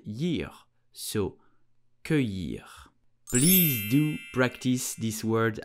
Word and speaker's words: cueillir: So we will say cueillir, cueillir, cueillir. Here the letter C-U-E-I will make the sound que, que. And then double L-I-R will make the sound year, so cueillir.